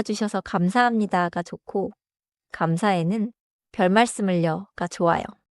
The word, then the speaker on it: 별말씀을: 나 좋게 봐 주셔서 감사합니다가 좋고 감사에는 별 말씀을려가 좋아요. 발음은 별의 받침 리을 그대로 살리고 말씀을 자연스럽게이어서 말하세요.